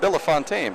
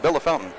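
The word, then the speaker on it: Bellefontaine: Nate Wilson works at 600 downtown in Bella Fountain, Ohio. It looks like it's spelled Bella Fontaine, but they tell me it's pronounced Bella Fountain.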